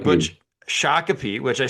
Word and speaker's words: Shakopee: pronunciations. Shako. All right, I've already Shakopee. butch Shakopee, which I said correct before we started, and suddenly we're rolling, and I can't do it.